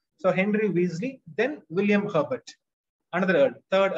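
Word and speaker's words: Wriothesley: i o t h e s l it's pronounced weasley so henry weasley then william herbert another third earl of pembach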